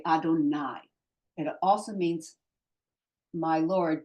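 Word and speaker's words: אֲדֹנָי: you're talking to God when somebody's talking to God they say Adonai exactly the same word in the scroll but instead of aik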